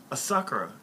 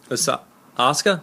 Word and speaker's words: Asuka: now I know uh uh uh um a asakura aak why am I get her name wrong Asuka Asuka yes asuka's the only person that I